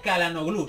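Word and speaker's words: Çalhanoğlu: respecto a Chicharito eh Me habéis dicho que se pronuncia kaloglu Sí es que me lo decís muy a menudo pero yo es que le digo calan gl porque me suena mejor sinceramente vale chicos en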